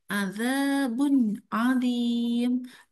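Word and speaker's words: عَذَابٌ عَظِيمٌ: Adzabun adzim. Adzabun adzim. Jadi bunim itu harus jelas dan terang. Jangan adzabun adzim.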